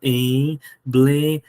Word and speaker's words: emblemático: comigo emblemático vamos lá emblemático ó a sílaba tônica é essa última penúltima e anti penúltima Eita professor é uma